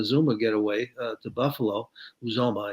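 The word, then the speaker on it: Uzomah: get away to buffalo uzoma i guess is the way to pronounce it and they still need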